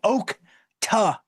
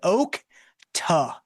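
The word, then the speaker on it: Okta: It is pronounced oak t like oat but oak t.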